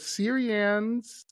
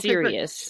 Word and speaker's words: Sirius: The Syrians from A and B and C star constellation. Did I pronounce that name right? So it's Sirius is the constellation, and it's the brightest star in the sky that we can see.